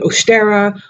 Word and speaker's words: Ostara: work for me personally so Ostara and you'll have to pronounce a lot of different ways estera Ostara I've always called it